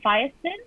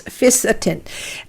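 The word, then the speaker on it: fisetin: have a product with and i'm not sure if i'm pronouncing this correctly uh fiascon it's f-i-s-e-t-i-n yes by uh no it's fisatin um what that is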